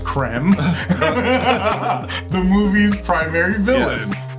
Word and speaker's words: Krem: He plays Krem, pronounced Krem.